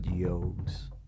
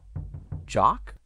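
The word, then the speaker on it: Jogues: q u e s that's not yogs jock isaac jock i have no idea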